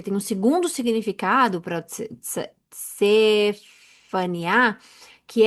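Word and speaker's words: צפניה: Em hebraico, Faniá, Sefaniá, Tem um T, mas a gente não sabe se. Eu não sei se eu falo, se a gente se pronuncia o T ou não, mas é Cefaniá, né?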